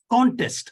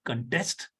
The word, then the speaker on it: contest: Contest is a noun form. The contest would be held so and so, but I will be contesting for that, the contestant for that. Whether it's a contest, the competition, or whether it's a verb, the pronunciation is a little different.